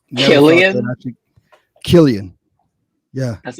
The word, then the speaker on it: Cillian: It's Kill, like Kill, then dash E Like E Killarney. dash En. Killian.